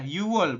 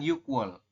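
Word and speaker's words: 유월: Tadi juga sama ya, yuwol bukan yukwol.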